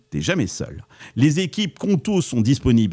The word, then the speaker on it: Qonto: C'est une entreprise sur 5 en France qui se crée aujourd'hui avec Conto et c'est pas un hasard.